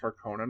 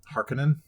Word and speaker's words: Harkonnen: Can we talk for a second about how like their own show pronounced Harkonnen wrong? Harkonnen?